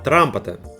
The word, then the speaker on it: Trumpeter: Правильно произносить, конечно, Трампета.